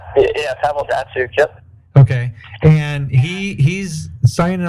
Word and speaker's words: Datsyuk: Make sure I pronounce his last name right. Datsyuk? Yeah, Pavel Datsyuk.